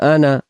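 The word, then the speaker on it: أنا: আলিফ হলো আলিফ, আর জায়েদা শব্দের অর্থ হলো অতিরিক্ত আলিফ, অর্থাৎ এই জায়গায় এই আলিফটা অতিরিক্ত, এখানে এটাকে পড়তে হয় না।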